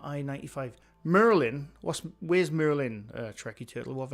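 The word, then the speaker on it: Maryland: We pronounce him Merlin. Kenny Bidden knows he's just up from I 95. Merlin. What's Where's Merlin?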